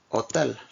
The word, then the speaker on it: hotel: and I actually h the H is always completely silent in like an Hotel Hospital hi like the